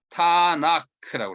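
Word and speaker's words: Tanakh: 거기에 빨간 글자 T, 토라의 T하고 너비임의 N하고 크투빔의 K를 합쳐가지고 TNK에다가 모음을 적당하게 넣어서 타나크라고 합니다. 끝에 H는 K를 좀 부드럽게 발음하는 것인데요.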